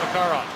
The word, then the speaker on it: Makarov: But here he's asked for the Russian pronunciation, Makarov.